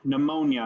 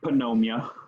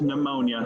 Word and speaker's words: pneumonia: you pronounce that one pneumonia not panomia it's pneumonia silent P pneumonia so that's so it's